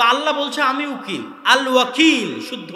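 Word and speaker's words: الوكيل: আল ওয়াকিল। শুদ্ধ উচ্চারণ।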